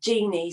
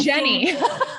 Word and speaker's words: Jennie: But Jenny, the one thing that I do, Jeannie, sorry. It's actually Jennie. Oh, Jennie, sorry. That's okay. People pronounce it that way all the time, so I just let it slide.